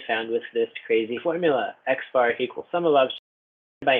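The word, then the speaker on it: x̄: To find the mean, pronounced x bar, x with a little bar over it, of a set of observations, add their values and divide by the number of observations.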